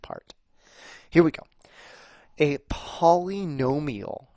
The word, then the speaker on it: polynomial: here we go a polynomial right and i tried to spell that out for you paul e gnome e o accent on the gnome right a polynomial expression